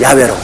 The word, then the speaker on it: 야훼: 나오면 그대로 우리 아버지 정확한 발음은 야훼로 그렇게 발음을 합니다.